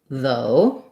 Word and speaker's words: though: Then we have the question about though. That one is going to sound like oh, though.